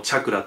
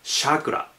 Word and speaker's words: chakra: 日本語でもチャクラって言うんですけれど英語ではチャクラと言ったりシャクラ人によってはシャクラっていう風に発音しますねえっと聞いた